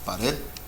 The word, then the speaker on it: pared: Pared. Pared, which means wall. Red is the stress syllable.